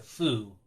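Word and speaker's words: ふ: You don't say the who sound in Japanese. You It's a foo.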